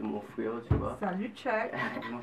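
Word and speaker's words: Tchuck: Salut Chuck. Et ça s'écrit T-C-H-U-C-K. Oui. Chuck, comme check ça? Ouais, comme Chuck, mais il y a U.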